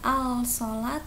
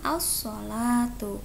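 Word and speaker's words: الصلاة: Hai assolatu ya assolatu Kenapa tidak dibaca alsala tuh karena alif lam bertemu dengan huruf idgham Syamsiyah yaitu huruf so maka alif lam nya tidak dibaca jelas tapi dimasukkan yaitu bacanya ausol atuh karena ini hukumnya yaitu alif lam syamsiyah sama ya paham Oke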